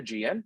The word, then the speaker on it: AIgean: here so here's a brief overview of the gm so it's pronounced much like the archipelago on the c